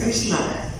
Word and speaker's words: Krishna: Entonces en sánscrito la palabra carisma es Krishna. So it has two syllables, Krish and Na.